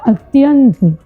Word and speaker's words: अत्यंत: इसका शुद्ध शब्द होता है अत्यंत। क्या बोलते हैं? अत्यंत। तो ये अत्यंत बना कैसे? ई प्लस अ को मिला करके य बन जाता है, तो ये उच्चारण में अत्यंत कहा जाता है।